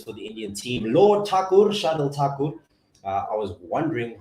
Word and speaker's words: Thakur: It is Thakur. We were told by Ravi there, and so we'll practice that one. I'm assuming it's T and not a Th.